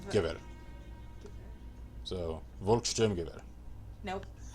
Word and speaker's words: Gewehr: Remember though that in German W is pronounced V, so Gewehr.